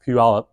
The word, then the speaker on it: Puyallup: into this pup Triplex it's pronounced pup by the way I